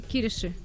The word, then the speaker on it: Кириши: А, да, еще в городе Кириши. Так, это когда? Я же правильно произношу? Кириши, по-моему. Кириши.